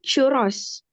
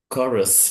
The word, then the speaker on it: chorus: Itu churros. Apa? Gimana bacanya? Chorus, ya.